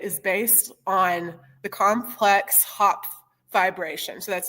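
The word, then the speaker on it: Hopf: So I'm working in a theory that is based on the complex hop vibration. So that's spelled H O PF and that is a mathematical object that represents how higher dimensions project to lower dimensions.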